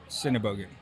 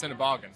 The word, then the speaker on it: Sennebogen: the customer is really helpful as well i pronounce it cinebogo that's correct most of the californians pronounce it incorrectly they pronounce cineboggan cinebargain yeah uh california people man i just worked